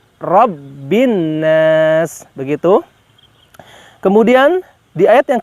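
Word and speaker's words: برب الناس: Nah, kemudian yang terakhir di kalimat birabbin nas. Birabbin nas, ada dua huruf yang di atasnya terdapat tasydid, di mana kita harus ada penekanan dalam membacakan huruf tersebut, yaitu huruf ba dan huruf nun.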